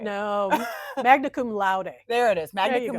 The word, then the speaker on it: magna cum laude: In the year 2008, she graduated magna cum laude. I did not pronounce that right. No, magna cum laude.